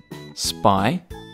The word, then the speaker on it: Spinosaurus: Spinosaurus.